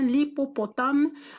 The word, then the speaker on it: hippopotame: Nous avons un hippopotame ou bien l'hippopotame. Regardez, c'est la même chose. On a H muette.